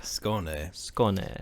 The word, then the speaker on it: Skåne: In a county called Skåne, I believe. Skåne. How do you spell that? S-K-A with an O thing above it, N-E. Sounds like Scone Town, like they got a lot of scones there.